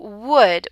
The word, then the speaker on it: would: The L is silent. So would, we don't say the L.